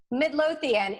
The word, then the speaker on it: Midlothian: in and I think you live in personally Midlothian it's about ten minutes away from Richmond Center